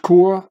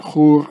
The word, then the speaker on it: Chur: Here it even says again, Chur, the which is pronounced Kur in German and Chur in Swiss German.